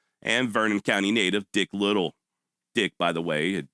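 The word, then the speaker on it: Liddil: It's spelled L I D I L, but that sure ain't the way it sounds.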